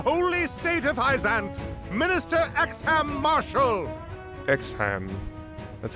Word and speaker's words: Exharme: honor of the holy state of isaiah marshall exhan that's how you say it fighting for the